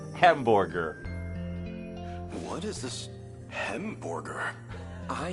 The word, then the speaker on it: Hamburger: you want but uh since it's a German thing you pronounce it wrong and it's hamburger h e m b o r g e r hamburger what is this hamburger